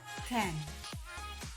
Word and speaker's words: can: yang artinya tidak bisa cara membacanya Khan Hai kalau bisa Ken Hei pastinya paham kalau